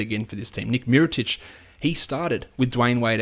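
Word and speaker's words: Micić: The announcers need to learn how to say his name. One team it was Nick Miratech, the other one was Miritic. It's Titch. Come on, figure it out.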